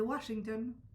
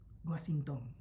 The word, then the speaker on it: Washington: En el inventario de la testamentaria, el notario escribió el nombre como lo pronunciaban los herederos. En vez de Washington, Guasinton.